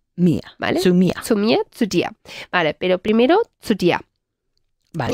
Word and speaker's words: dir: Sí, como día. La D fuerte. Okay. Zu dir, y luego también veremos a mi casa.